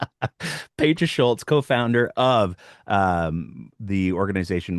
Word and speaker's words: Petra Schulz: to welcome our guest to the program tonight, Patra Schultz. Look what I did there. I got the name right. I had to write it down phonetically. You did well. Pedra Schultz, co-founder of um the organization Moms Stop the